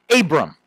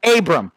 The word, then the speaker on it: Abraam: First thing we need to learn about Saint Abram is how to pronounce his name. As you see, 50% of his name is A's. So that makes it very difficult to pronounce, okay? So if you are a skilled in linguistics or you grew up, you know, in the Middle East, something like that, you say Abraham, okay?